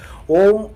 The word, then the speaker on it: ओम: ओम एक अक्षर की ध्वनि नहीं है, बल्कि ये 3 अक्षरों से मिलके बना है, जिसमें पहला अक्षर है अ, जिसका की नाद आपके मणिपुर चक्र से होता हुआ आता है।